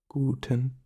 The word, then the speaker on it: guten: Gooden Gooden Gooden so should repeat after me guten gon the U in guten is usually a